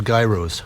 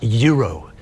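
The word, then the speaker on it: gyro: have one of those gro. I'm going to order a guy." Oh, no. And the waitress was up. She said, "Sir, it is pronounced yuro. The G is silent."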